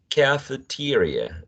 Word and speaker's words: cafeteria: Some people say cafeteria, so they get rid of the diphthong and they just keep the monophthong, short, lax e, right? But some people say cafeteria. They get two diphthongs here.